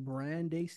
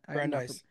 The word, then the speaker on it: Brandeis: Um, there's another professor, another neuroscientist from Brandeis University. I'm not Brandeis. Brandeis. Okay, I was Hmm. like, I definitely pronounced that right.